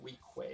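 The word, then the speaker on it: Weequay: I think it's yeah we Quay is how you pronounce it um yeah so they're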